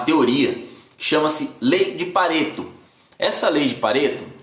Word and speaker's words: Pareto: Regra dos 80-20, ou regra de Pareto. Se escreve do jeito que se fala mesmo, P-A-R-E-T-O.